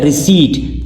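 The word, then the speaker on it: receipt: रिसीट P silent है।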